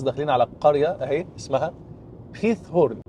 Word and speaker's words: Giethoorn: على القريه اهي اسمها خيث هورن هنا حرف الجي بيتنطق خ او خاه كده فيها ه فهي اسمها بتتكتب جيث هورن ولكن بتتنطق خيث هورن وهي معناها قرون الماعز